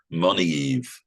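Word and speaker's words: Moniaive: This painting is difficult to pronounce this word, but I've looked it up and it seems to be pronounced Monighev. So you don't pronounce the A, basically.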